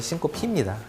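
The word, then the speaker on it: syncope: 정확한 발음이 싱코피입니다. 싱코피라고 읽기 쉬운데 싱코피라고 돼 있어요.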